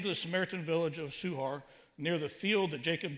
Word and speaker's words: Sychar: little town called sukhar we americans pronounce it psychar but it's more closely pronounced suhar and he met a